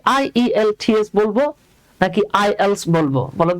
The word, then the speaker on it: IELTS: তো কি হবে জি এইটা কিন্তু আই ই এল টি এস না কজ এটা হলো বাবা অ্যাক্রোনিম তো অ্যাক্রোনিমটাকে কি পড়তে হয় এটাকে পড়তে হয় আইএলস হ্যাঁ আইলস এগুলো কি